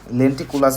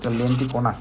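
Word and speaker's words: lenticonus: এখন প্রশ্ন হচ্ছে লেন্টিকুলাস বলছি সরি লেন্টিকোনাস। আমি উচ্চারণটা ভুল বলছি সরি।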